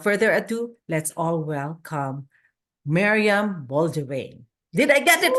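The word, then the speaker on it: Meriam Bain: your journey without further Ado let's all welcome Mariam Bain did I get it right you did it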